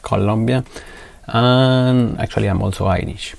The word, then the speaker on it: Colombia: in in south america it's colombia it's not colombia it's actually pronounced colombia and actually i'm also irish i got my